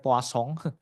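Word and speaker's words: Poisson: yang disebut sebagai eh poisong regression. Poison. Poison regression. Aku enggak tahu bacanya itu karena orang Prancis ya. Jadi bacanya poasong.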